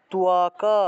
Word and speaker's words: ত্বক: দিয়ে ক উচ্চারণ করি তক উচ্চারণ করি কিন্তু সংস্কৃতে তক উচ্চারণ করলে হবে না সংস্কৃত উচ্চারণ করতে হবে তোয়াকা ক টাকে পূর্ণ উচ্চারণ